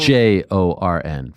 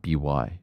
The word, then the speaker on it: Bjorn: BJORN for the record, not BY.